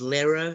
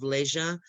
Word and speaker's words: leisure: So we heard whale for while, and we heard lera instead of leisure, louts for lots, and he also mispronounced entrepreneur as well.